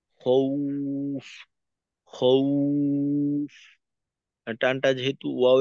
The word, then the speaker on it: خوف: সুতরাং এখানে উচ্চারণটা খৌফ, খৌফ না, উফ, খৌফ, খৌফ। নাকে যাবে না, উ এর মতো হবে।